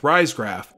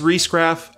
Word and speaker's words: Riesgraf: by Parker actress Beth Riesgraf wait hold on stop a second it was brought to my attention that I mispronounced her name wrong and that my credibility was in question miss Reece Graff I apologize for pronouncing